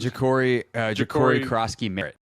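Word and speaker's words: Ja'Cory Croskey-Merritt: Ja'Cory Krosky Merritt.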